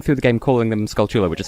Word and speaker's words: Skulltula: I've encountered pronounce it Skulltula. Like, they stress it oddly. Like, how would you go about stressing it? Well, the reason they're called Skulltulas is because it's Skull Tarantula?